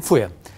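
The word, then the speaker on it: FUE: Ama mantık teknikte köklerin alınıp nakledilmesi, tek tek alınan bu yöntemin ismi de İngilizce baş harflerinden geldiği için biz fuye diye herkes telaffuz ediyor. Biz de öyle söyleyelim, fuye.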